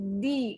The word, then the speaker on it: the: Oke, jadi kalau misalnya yang O ketemu sama yang the bacanya the oldest. The oldest. Bukan the oldest, tapi the oldest. The oldest. Ya, bacanya jadi di kalau ketemu sama huruf vokal.